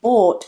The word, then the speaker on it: bought: So that OU in bought is not an O, it's just one long vowel sound. Or, bought, then just add that intonation, bought.